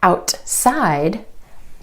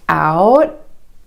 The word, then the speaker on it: outside: For example, the word outside. Instead of outside, outside. The tongue stays up for the T and goes straight into the S sound.